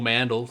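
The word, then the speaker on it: Mandel: follow me at Mandal sounds just like it's spelled jo e ma n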